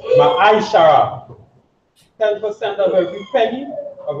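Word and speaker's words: מעשר: Means tenth in Hebrew, and it's pronounced Ma'aishara.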